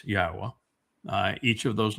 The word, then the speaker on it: Yahweh: And it's not Yahweh, it's Yahwa.